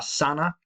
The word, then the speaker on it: Sedna: Sedna, or Sana, as it may now be pronounced.